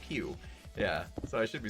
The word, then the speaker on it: PewDiePie: I guess it's spelled P-E-W, like Pew.